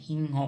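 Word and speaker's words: সিংহ: असमिया में बाघ कहेंगे शेर को असम में हिं हो कहेंगे हिं हो लिखते टाइम में हम सिं हो लिखेंगे लेकिन उच्चारण होगा हिं हो हिंग हो ठीक है दोस्तों समझ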